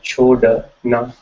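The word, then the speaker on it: छोड़ना: So it's chhodna. Chhodna is to leave, and that's how you pronounce it, chodna, right?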